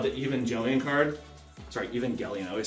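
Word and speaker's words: Evangelion: the even oh the even jelian card sorry even gelion I always say it wrong the purple even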